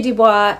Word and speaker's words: Du Bois: I'm not sure in In Canada, you would say Dubois. In the United States, it looks like you say Du Bois. So I'll say it both ways in case that's how you would pronounce it.